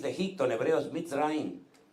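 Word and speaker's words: מצרים: El nombre o la palabra o el país de Egipto en hebreo es Mitzrayim, y se escribe con una M que es abierta, pero termina con una M que es totalmente cuadrada y ya no puede salir.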